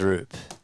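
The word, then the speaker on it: Roupp: The last name RP is pronounced like the word soup. Okay. So, it is RP according to Gemini.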